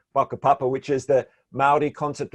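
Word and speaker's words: whakapapa: maori concept of papa spelt with the wh they're pronounced with an f baka papa which is the maori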